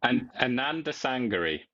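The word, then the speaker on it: Anandasangaree: Anand Sangari. Yeah. So split it up into Ananda, Ananda, Sangari, Sangri. There you go.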